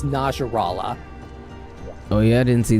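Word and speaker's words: Najarala: to fight this title nars law thing at I couldn't get out for some reason with all due respect attack that the correct pronunciation it's Nasrallah oh yeah I didn't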